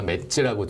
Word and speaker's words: MADS: 네, 저희 첫 번째 광고 솔루션은 브랜드 네임 제가 맷즈라고 지었고요. 맷즈. 네, 맷즈라고 지었고 MADS입니다. MADS. 네. 그 맷즈인가요, 발음이? 저는 매즈라고 해야 될 것 같은데. 조금 더 강하게 읽으려고 저희가 맷즈라고 부르고 있고요.